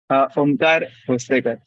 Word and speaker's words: Omkar Hostekar: Omkar Hostekar. It's like Marathi, so yeah, the pronunciation is different.